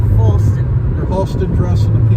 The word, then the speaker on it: Falston: Falston. Rhymes with Halston. Right, Falston.